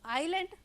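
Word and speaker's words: island: आईलैंड में अब बच्चों आयरलैंड आयरलैंड क्या होता है यह आईएस एंड ई लिखा हुआ है लेकिन यहां हम प्रॉमिस नहीं कर रहें हैं यह इसमें साइलेंट वर्ड है तो आयरलैंड जब लिखा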